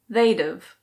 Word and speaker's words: they'd've: They would have becomes they'd've. They'd've.